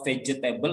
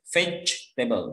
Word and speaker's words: vegetable: Jadi kalau vegetable itu kurang tepat membacanya. Jadi kalau baca vegetable itu bacanya vegetable. Jadi J-nya nggak usah dibaca. Ya. Jadi vegetable. Tulisannya vegetable, tapi E yang kedua itu tidak dibaca.